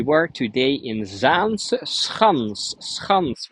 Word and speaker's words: Schans: We were today in Zaanse Schans, Schans with a very hard G, because that is how we're pronouncing it.